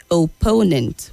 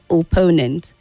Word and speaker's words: opponent: blatant is the word opponent we've corrected this before opponent and yes he scored